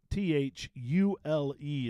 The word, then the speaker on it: Thule: and stuff so it's Thule huh th -u-l-e Tooley Thule and it goes right along with the other rack company that has the mispronounced name Yakima jicama or Yakima yeah yeah